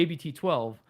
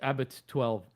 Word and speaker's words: Abt 12: it's like the the ABT 12 right like everybody here pronounced it abt12 that's not how you pronounce it it's Abbott 12. that's how they say it over there but everybody here calls